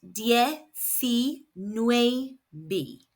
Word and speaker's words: diecinueve: So we know the eyes are making an e sound and the c is making a s sound. The letter U makes an oo sound in Spanish and the letter V is pronounced BB B.